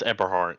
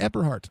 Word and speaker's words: Eberhardt: No, hey, it's Eberhardt. Eberhardt, that's okay. No. I got it, Eberhardt. I got it. It's okay. I'm pronouncing the long vowels.